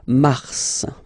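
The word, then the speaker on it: Mars: it's an exception because normally final s is not pronounced in French okay we've got some exceptions and this one is one of them so Mar pronounce the final s mar mar okay then ail ail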